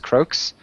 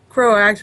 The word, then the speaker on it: Croax: We've got Croaks. Did I say that right? Croax, but it doesn't matter.